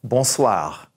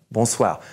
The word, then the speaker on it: bonsoir: this is bull SWA are in the back bonsoir bonsoir so now we can say it we rule